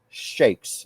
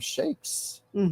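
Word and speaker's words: sheikhs: Five prominent shakes. Is that the correct pronunciation? Shakes. Shiks. Shiks. Okay. Uh, five prominent shiks declare they want to recognize Israel and break away from the Palestinian Authority.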